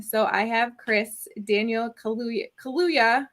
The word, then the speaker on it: Kaluuya: I can't ever pronounce his last name. Kaluuya, thank you.